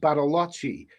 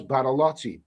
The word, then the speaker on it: Bariloche: So, well, what I read, I mean, the furthest south that I've been is a place called, I believe it's pronounced Bariloche in Argentina, and I think that is the gateway to Patagonia.